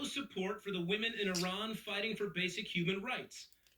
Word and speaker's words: Iran: the Iranian people but you're pronouncing our country's name wrong our country is named Iran not Iran please once and for all let's get this clear my apologies on uh